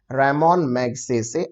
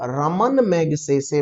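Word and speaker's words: Ramon Magsaysay: सही जवाब है option number A, रेमोन मैग्सेसे award. 2 बातें हैं दोस्तों। पहली बात तो ये कि बहुत से बच्चे इसको रमन मैग्सेसे बोलते हैं।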